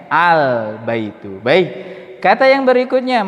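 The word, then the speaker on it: البيت: Baik, sehingga membacanya al. Jelas ya lamnya ya. Al-baitu.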